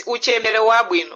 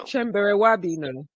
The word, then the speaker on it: Uchembere Wabwino: It's Uchembere Wabwino. Uchembere Wabwino.